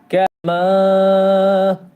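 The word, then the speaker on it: كَمَا: এজন্য দেখেন কাফ জবর কা মিম আলিফ জবর মা কামা। ঠিক আছে। কামা একটু উচ্চারণ করি। আমিনু কামা কামা তিন আলিফ সমান টান দিতে হবে।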